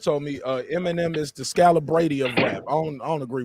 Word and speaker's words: Scalabrine: Right, Scalabrine.